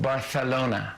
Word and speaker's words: Barcelona: The good news is your friend can't come back from Spain being like, it's pronounced Barcelona.